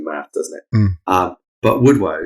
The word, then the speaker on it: woodwose: doesn't it um but would woe so it's uh w-o-s-e which is um Old English for mad so man of the woods but I've heard it pronounced um would wuse as if it's got two o's in it and I also heard it called wood Wows oh a bit like a mouse yes it would last